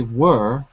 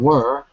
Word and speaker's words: were: perfectly it's really ER and were has the same vow as the word bird were bird so with world were